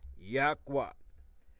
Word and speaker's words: Yahweh: using the four letters, which they call the Tetragrammaton, YHWH, which we pronounce Yahweh.